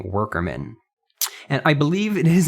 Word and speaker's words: WKRMN: goes by the name worker men and i believe it is indeed pronounced workerman even though there's not an extra r in before that k but uh he is